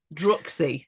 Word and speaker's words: Druxy: I think it is Droxy. Just look, we've talked about this. I'm not. Wait, you're Northern. Droxy or Droxy? I did spell it out. DRU. Where has it gone? Droxy. DRUXY. Yes. Droxy.